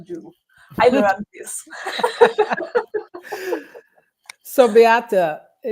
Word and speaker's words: Beate: I I learn everyone my name pronouncing correctly. It's Bata.